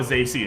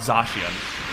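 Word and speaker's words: Zacian: umbreon is now a zasey encounter or i'm sorry it's pronounced dashian but uh umbreon is now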